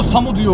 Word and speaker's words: Samudio: Ama onun haricinde takımın diğer dikkat çeken oyuncuları Mehmet Uslu, Samu Diyo diye yazılıyor, Samu Diyo okunuyor.